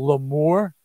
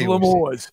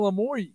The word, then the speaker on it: L'Amour: know that, but it's the club was called L'Amour. I always say it wrong. I know. No, everybody says L'Amour's. You going to L'Amour's?